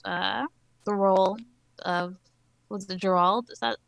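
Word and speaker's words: Geralt: think he captures the role of, was it Gerald? Is that how you say it? Yeah, it's Gerald.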